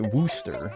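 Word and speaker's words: Worcester: You pronounce it Worooster.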